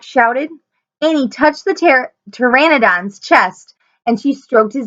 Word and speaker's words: Pteranodon: towards the Terra doc I'm saying it wrong again it's Pteranodon oh no he thought